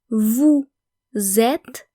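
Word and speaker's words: vous êtes: So basically we're making the leazison nome we are v zet v zet you are.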